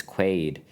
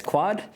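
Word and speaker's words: Quaid: Margaret quy and Dennis quaade uh the plot follows of it's Margaret quy sorry Demi Moore Margaret quali and Dennis quad Dennis quad and yeah cor corai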